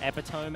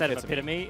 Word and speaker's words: epitome: It's kind of like, I remember back in school, I said epitome out loud once. Yeah, instead of epitome, and God, I felt dumb.